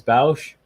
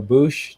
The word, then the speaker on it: Boushh: It's Princess Leia as Boushh, or Boushh, depending how you pronounce it.